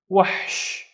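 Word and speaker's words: وحش: sha with no vowels as well, so it's wahsh, wahsh, and wahsh is a beast, wahsh. Next one, let's split this into two syllables because we have two vowels.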